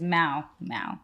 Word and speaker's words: Mal: It's Mal, like pal, Mal.